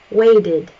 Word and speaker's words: waded: Waded, waded. The initial verb ends with a D sound, so we do add an additional syllable.